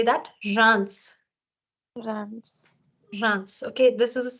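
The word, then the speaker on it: Reims: tricky try this this is a city in France so here the S is sounded I've not made it red you have to sound it as rans say that rans rans rans okay this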